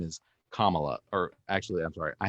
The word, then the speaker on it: Kamala: just so you know her name is kamala you can spread that around and um tell everybody else it's comma dash so i wanna i